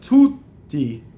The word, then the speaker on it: tutti: We already know how to do double T. We have tutti. Tutti, right? Double T, go up to the T, don't say it.